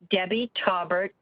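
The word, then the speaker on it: Taubert: you may have started telling us about that talbert t-a-u-b-e-r-t i live in the prairie heights subdivision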